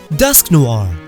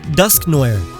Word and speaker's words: Dusknoir: Dusknoir, not Dusknoir. Noir is black in French.